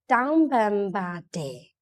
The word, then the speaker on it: တောင်းပန်ပါတယ်: In Burmese we have to say Taung ba de. Taung ba de. There's a 4 syllable.